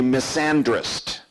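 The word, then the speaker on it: misandrist: person is called a Miss and rest' M is a n D RI st I think it's pronounced miss and rest' what does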